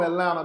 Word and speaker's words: Atlanta: Anybody who's from Atlanta knows one thing. The T is silent. Double N at the end, baby.